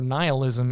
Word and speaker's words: nihilism: Neilism or nihilism as it's pronounced is this philosophy or worldview that nothing matters.